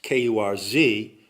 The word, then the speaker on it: Kurz: Well, Kurz, K-U-R-Z, in German means short, and it's pronounced Kurz.